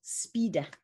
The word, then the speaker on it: spider: to me partly because in italian it's pronounced speeder which i think is